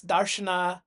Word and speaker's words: Darśana: I'd be speaking it as darana ganesha and shiva not as daran ganesh shiv and so forth where the a is eaten at the back.